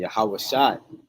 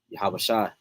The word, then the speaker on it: Yahawashi: like he said man yahawashi not Jesus not sweet baby Jesus yahawashi is the proper way you say his name now like he said